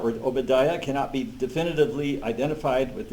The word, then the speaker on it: Obadiah: So that's that I is pronounced as long E.